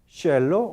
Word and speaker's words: hielo: abantes nativos de español en algunas zonas dialectales de la América Latina también no se dice hielo sino como yelo o hielo o hielo existe variedad de esta pronunciación en vez de dec hielo Cómo se dice yelo yelo o yelo o